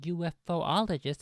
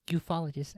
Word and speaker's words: ufologist: in the Extraterrestrial phenomena who say UFO ologist as opposed to having the the esoteric knowledge of the proper pronunciation of ufologist see I am I am a trustworthy authoritative voice here you can trust me because I just showed you I just proved to you on stream live in 1080p that it's pronounced ufologist and I knew that